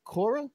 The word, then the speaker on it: Cora: take care of this yeah so you mentioned coral what's that yeah yeah Cora so it's spelled sea or qo r a lot of